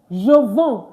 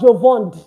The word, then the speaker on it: je vends: And of course, you don't pronounce the D, you don't pronounce the S. You just say je vends. Je vends, not je vende, not je vende.